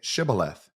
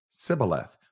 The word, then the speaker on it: Shibboleth: If he said, "No," then they would say to him, "Then say Shibboleth." And he would say, "Sibboleth," for he could not pronounce it right.